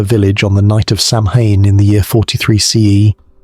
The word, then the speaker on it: Samhain: Tonight, I invite you to peer behind the cheerful mask of modern Halloween and see the face of Samhain, pronounced Samhain, the ancient Celtic festival that gave birth to our most beloved spooky holiday.